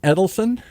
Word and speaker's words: Edilson: Like Eddie Edilson? Yes.